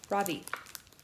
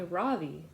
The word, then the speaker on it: Ravi: first name is ravi it's pronounced ravi with a soft bra and a strong v in sanskrit it means the sun in america people call me ravi which this with the stress on the first syllable that doesn't mean anything